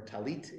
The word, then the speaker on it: talit: a prayer shawl is a Talus or talit in the Hebrew but Talus and Yiddish pronunciation and the plural should